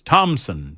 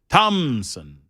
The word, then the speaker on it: Thompson: There's no P in Thompson. That's why you don't pronounce the P. It's Thompson. Tom Thompson. Thompson.